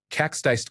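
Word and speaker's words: kaksteist: Cax disted could Estonian for 12 months pronounced cax dist.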